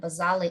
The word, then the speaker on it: basale: is called stratum basal i call it bazale because i you know i know that basale is appropriate way to pronounce it so so stratum basale